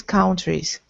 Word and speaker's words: countries: in these countries good by the way pronunciation countries countries not Al but uh countries countries I'm still hearing kind of an O but I want to hear an uh uh like Sun Country Sun Country good that's